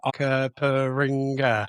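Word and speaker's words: Onkaparinga: had cuz that was Anker Porringer? Yeah, well, it's a big word. Like I failed tape, remember? I had to almost clap the syllables in my head. Okaparinga.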